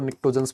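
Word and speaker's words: pnictogens: सर इनको निकोजंस भी बोला जाता है। है ना? बहुत सारे लोग निकोजंस बोलते हैं। निकोजंस जो आपको ठीक लगे। पी तो जरूर साइलेंट है।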